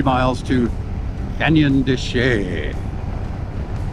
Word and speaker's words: Chelly: miles to Canyon de Chelly. It looks like Chelly, but I've heard it pronounced de Chelly. Maybe I should pronounce it Canyon de Chelly. Oh, piss off every French Canadian or Frenchman around.